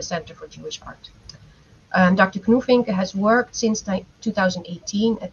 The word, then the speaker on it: Knufinke: Our second speaker is doctor Knufinke. Am I pronouncing your last name correctly? Yes, perfect. Knufinke who comes to us from the Technical University Braunschweig in Germany.